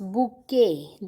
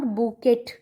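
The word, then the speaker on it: bouquet: बुके, this word is नॉट बुकेट, this is called बुके. T silent होता है इसमें.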